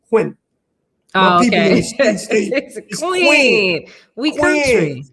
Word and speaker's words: Quinn: if you from here you call me queen even though my name has one syllable quinn oh okay queen we